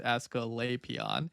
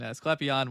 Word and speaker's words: Asclepion: The results of these efforts can be seen with the example of Asclepion, generally pronounced Asclepion, though the more conventional Greek intonation Asclepion was also sometimes used.